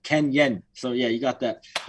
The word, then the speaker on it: Kennyon: you're right now it's kenyan so like the o is the e if you pronounce it ken yen so yeah you got